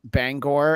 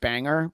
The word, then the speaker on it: Bangor: disappointed were you that the town is pronounced Bangor and not Banger because just think of